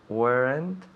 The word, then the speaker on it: weren't: So remember, weren't. Weren't. Una sola sílaba. No me digas weren't ni weren't. No, una sílaba.